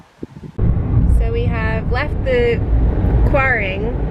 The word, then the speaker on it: Quiraing: have left the kuaring i think i've been saying it wrong the whole time i think it's kuhren because when i read the gaelic it looks like kurin i think that's it boring but it's spelled quiring i don't know someone